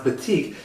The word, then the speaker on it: batik: Well, batik is how you pronounce batik.